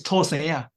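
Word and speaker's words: 土生仔: Actually, this term should be pronounced from Hokkien dialect, from Taiwan dialect. It's 土生仔.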